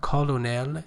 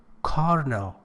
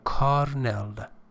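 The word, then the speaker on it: colonel: transparent honesty and loyalty pay attention to the pronunciation of these word it is not colonal it is carnal it doesn't have any rare letter or r letter but it is pronounced as carel carel American conell British pronunciation so Carell is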